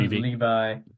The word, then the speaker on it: Levy: then he kills angstrom Levy which I always pronounced as Levy in my head but Le Levi Le hrom Levi yeah like the jeans yeah yeah weird bigheaded